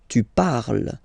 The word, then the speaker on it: parles: Phonetically, tu parles. So you've got the two first forms, you pronounce them the same way. You write them differently, of course, because you've got here, and then you've got and s, okay? But then phonetically, they are the same.